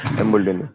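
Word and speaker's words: Embuldeniya: But Embuldenia, yeah, yes, that's yes, I yes, have pronounced it right. final Embuldenia.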